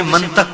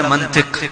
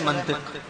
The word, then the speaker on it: منطق: لوگ اسے منطق کہتے ہیں، اصل لفظ ہے منطق. منطق نہیں، لوگوں میں منطق مشہور ہے، اصل ہے منطق.